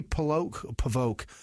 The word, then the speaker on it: Polvogt: Polvogt. No, GT. Okay, yeah. Yeah, it's Polvote.